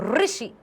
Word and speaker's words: ऋषि: गृह, ऋषि, ऋषि, ऋषि की, ऋषि ऐसे लिखते हैं ना हम, ये है ना हमारा ऋषि, ये मात्रा लगी है ना यहां पर, तो ऋषि, ऋषि, ई साउंड आता है।